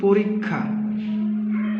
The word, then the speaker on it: পরীক্ষা: যেমন আমরা যদি বলি পরীক্ষা এই শব্দ এটার এটা একটা শব্দ এখানে যুক্তক্ষ আছে এর ক্ষেত্রে কখ এবং এখন এটা যখন আমরা উচ্চারণ করবো উচ্চারণ করব তখন হবে প ঋ খা অর্থাৎ প্রথমটার জন্য হবে